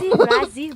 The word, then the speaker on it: Brasil: You don't say the S, actually? Oh. How do you say it then? Is it just without? It's not the Z. It's the. How do you say it then? Braille. Brasil, Brasil. Come to Braille.